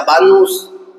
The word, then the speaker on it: vanus: La palabra vanidad proviene de una palabra griega que se pronuncia vanus. Vanus, que significa algo que no tiene valor.